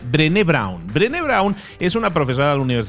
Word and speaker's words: Brené Brown: se llama brain brown tal cual suena con las cinco letras perenne y con acento en la final drene brawn drene brawn es una